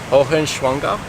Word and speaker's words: Hohenschwangau: Can you pronounce that? Hohenschwangau.